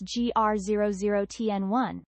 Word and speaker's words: GR00T N1: So, what exactly is this GR0000 TN1? Okay, so GR0000 TN1 and yes, it's pronounced like that tree is NVIA's first open foundation model, but specifically for humanoid robots.